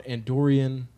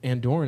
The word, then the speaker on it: Andorran: call it an Doren do you call an Andorian and we looked it up and we believe that Andorran is the correct pronunciation can you guys confirm that yeah yeah